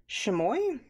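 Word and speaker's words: chamois: this is an artist chamoy I think is I think that that's how you the S is silent I'm gonna go with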